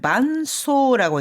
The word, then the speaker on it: 伴奏: 자, 이어서 두 번째는 伴奏 반주라고 할 때는 반소라고 읽는데요.